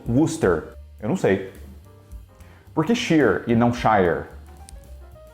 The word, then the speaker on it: Worcester: no Brasil só que o jeito certo mesmo de pronunciar isso aí é eu vou repetir Buster faz algum sentido nenhum porque isso daqui é pronunciado como Booster eu não sei porque